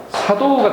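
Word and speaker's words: 作動: 사도우가 되겠어요. 사도우. 작동 역시 작자도 4로 발음이 났습니다.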